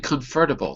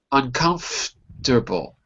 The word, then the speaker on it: uncomfortable: lonely and stressful uncomfortable say that with one last syllable Edson uncomfortable you're saying confortable there's no F feras uncomfortable uncomfortable that's it uncomfortable conditions I'm going to